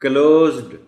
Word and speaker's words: closed: देखिए ना, अगर उनको नहीं बताया गया पहले से तो क्वाइट पॉसिबल कि वो इसको पढ़ें इस तरह, क्लोज्ड क्लोज्ड, और वो डी को भी नुमाया करके पढ़ने की कोशिश करें।